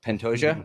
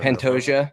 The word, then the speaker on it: Pantoja: And it's Pantoja. Okay. Is that how you say it, Jake? I think so. Yeah. Pantoja or I don't know. Pantoja.